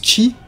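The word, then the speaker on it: 四: un délire autour du chiffre 4 qui se prononce chi tout comme le mot mort ce qui fait qu'il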